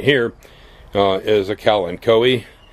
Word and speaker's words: Kalanchoe: And this little thing right here is a Kalanchoe. Some people call it Kalancho. That I don't believe is pronounced in Latin that way, but it'll do.